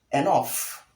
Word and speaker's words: enough: Now, this word is wrongly mispronounced as enough. Enough. But the correct pronunciation of the word is enough. Enough, not enough. Enough with the short e sound, the not sound, that's the short out sound, and lastly the f sound.